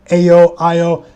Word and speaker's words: Ayo: I know it's Ayo Dosunmu.